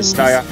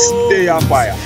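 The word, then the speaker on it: Stayfiya: Some call me Staya, some call me Staya Fire. But the original pronunciation is Staya Fire.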